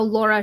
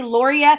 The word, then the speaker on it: Lauria: here so well and the reason she gets it wrong is because it does not spelled how laura should be pronounced there's an i in there yeah it has an eye in it so i always want to say lauria i also mix up